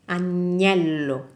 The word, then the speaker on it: agnello: This second one, the one with the G, is lamb, agnello, and it's pronounced like a gnocchi, agnello, gnocchi.